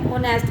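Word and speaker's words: honest: ठीक है, Ishan was known to बी ए ऑनेस्ट, अभी मैंने एग्जाम्पल भी दिया था, इसलिए यहाँ पर एच साइलेंट है, एन का यूज़ किया।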